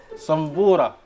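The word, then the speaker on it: صنبورة: وعاد ما بيتعلم على كل هذا يا عم ناصر صنبوره تنطق بالصاد وليس بالسين.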